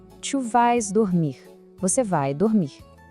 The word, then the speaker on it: vas: Aqui, de novo, o S do vas não aparece e o som fica bem aberto, como um vá. Tu vas dormir.